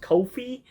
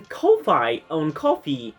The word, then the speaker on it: Ko-fi: I think it's supposed to be pronounced Ko-Fi, but it's written like K-O-F-I.